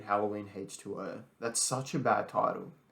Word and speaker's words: H20: That's kind Everyone calls it H2O, not H20, because the Americans say O instead of zero.